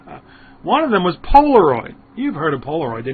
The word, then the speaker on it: Polaroid: one of them was Polaroid you've heard of Polaroid the name lives on although the company's long gone I would never invest in a company whose names rhymes with hemorrhoid I just don't think